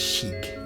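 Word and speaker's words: Sieg: Yeah, it's pronounced as Shig, even though Sig is Shig.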